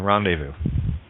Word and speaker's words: rendezvous: Z is silent in rendezvous.